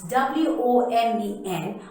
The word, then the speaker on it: women: Yes, we have to pronounce W-O-M-E-N or the plural of women as women.